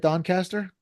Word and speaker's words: Doncaster: it's our friend Kevin Don cter did I say that right Don Caster you said it right excellent he is with